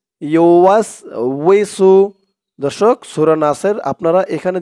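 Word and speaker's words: يوسوس: দর্শক, সূরা নাসের আপনারা এখানে যে একটা ভুল করে থাকেন সেটা হচ্ছে আপনারা বলে থাকেন আল্লাযী ইউওয়াস বিসু, ইউওয়াসবিসু বলে থাকেন। ইউওয়াসবিসু বললে এই উচ্চারণটা সঠিক হয় না। বলতে হবে আল্লাযী ইউওয়াসউইসু, উই ওয়াওজের উই, ইউওয়াসউইসু,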